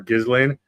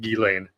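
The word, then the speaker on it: Ghislaine: And you were guilty of it when you did your first one on this channel of calling her Gizlane.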